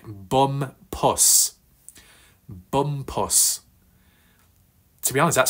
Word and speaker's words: Bumpus: bit of a mixup so it's not bum ass it's not bump ass but it's bum pus puss puss Bumpus puss puss I think I'm getting there with stress on the first syllable not the second right I've watched all